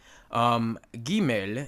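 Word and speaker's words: גימל: I think it's fine gimel is hard as in go and email is almost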